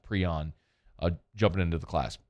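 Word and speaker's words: Pream: with uh kai prion p-r-e-a-m i'm told it's pronounced prion uh jumping into the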